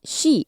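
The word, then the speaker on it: 四: 4 is shi in Japanese, and the kanji for death is pronounced the same way.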